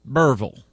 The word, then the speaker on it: Berryville: just outside of Berryville, this is how they say it down here, Berryville.